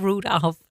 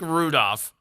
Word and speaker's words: Rudolph: There's an L in there. Like wolf. I said Rudolph. No, you did that time. First time you said Rudolph. I look like Rudolph all the time.